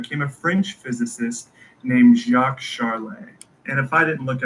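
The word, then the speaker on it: Jacques Charles: And if I didn't look up the pronunciation for this man's name, I probably would have said Jack Charles, but it's Jacques Charlay.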